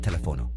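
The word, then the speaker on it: teléfono: doctor accent mark required telephono telephone ends in a vowel but the accent mark tells us to stress the third to last syllable tono sabado Saturday ends in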